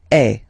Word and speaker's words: es: Okay, and for tu, then you've got this combination of letters. Okay, but then basically the sound you will pronounce or you will produce is est.